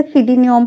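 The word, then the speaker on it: pseudonym: प्रोल्यूग यानी प्रस्तावना देना सेनियम इसे सिडनियम पढ़ते हैं फ्यूम पी इसका साइलेंट होता है स्टेडियनिम जिसका उपनाम होता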